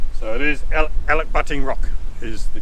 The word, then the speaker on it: Elachbutting: you can do here so it is alec butting rock is the correct pronunciation well that's the way it's spelt anyway